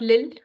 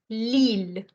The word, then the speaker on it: Lille: This I pronounced as Lille. Not Lille, but Lille, the long one.